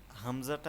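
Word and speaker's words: همزة: হামজাটা আমরা যখন উচ্চারণ করব তখন আমরা একটু জারি দিয়ে উচ্চারণটা করতে হবে। যেমন হামজা। হামজা। একটু শক্ত হবে লাস্টের দিক।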